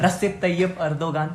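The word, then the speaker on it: Recep Tayyip Erdoğan: रसिप तैयब अर्दोगान. yes. सही pronounce है ना?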